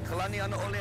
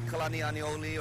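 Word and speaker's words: Kalanianaʻole: Kalani'anaole Highway, which is commonly mispronounced such as Kalani'aniole or Kalani'anaole, carries a name of who is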